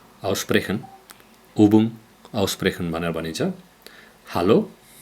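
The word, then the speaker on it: Hallo: हालो हालो, अङ्ग्रेजीमा हेलो भने जस्तै।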